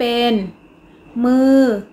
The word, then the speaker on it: มื้อ: จะ ออก เสียง โท คำ ว่า มื้อ เป็น อักษร ต่ำ ผัน ด้วย วรรณยุกต์ โท ดัง นั้น จะ ออก เสียง ตรี นะ คะ เด็ก ๆ